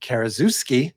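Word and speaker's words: Karaszewski: and the writers are Scott Alexander and Larry KUSI that is how you pronounce his last name and they have since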